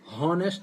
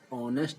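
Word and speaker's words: honest: इसको हॉनेस्ट नहीं पढ़ा जाता, ऑनेस्ट पढ़ा जाता है। ऑनर ऑनरेबल नहीं पढ़ा, हॉनरेबल नहीं पढ़ा जाता, इसको ऑनरेबल। इसी प्रकार से और भी शब्द होते हैं इसके एच से जो प्रोनाउंस होते हैं, जो एच से बनते हैं लेकिन एच से प्रोनाउंस नहीं किए जाते हैं, तो इसका ध्यान रखें।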